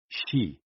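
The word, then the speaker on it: xi: with the spleen and x i pronounced like she which connects the whole body the following poem by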